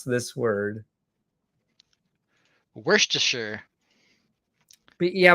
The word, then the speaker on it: Worcestershire: you pronounce this word Worcestershire but yeah but it's like Worcester if you're from Maryland you say Worcester yeah I'm not even